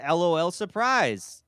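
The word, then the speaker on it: L.O.L. Surprise!: drum roll as in LOL surprise BB's boring the Trap okay okay hold on you you guys are probably gonna make fun of me but it's actually pronounced l-o-l surprise yeah because it it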